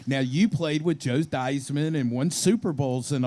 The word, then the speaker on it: Theismann: Theismann rhymes with Heisman.